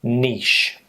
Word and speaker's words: niche: of the definitions of the word so the pronunciation Niche the next one is risque RIS okay and